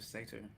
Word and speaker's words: satyr: It's Tiefling or a Tiefling or a Satsu or a Satyr or a Satyr. I always get Satire. confused how to say it. I think it's satyr. Satyr. Yeah. Satyrs, It's not satire because that's comedy.